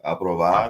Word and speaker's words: aprobar: Aprobar.